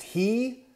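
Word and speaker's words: היא: This Hebrew word is pronounced he.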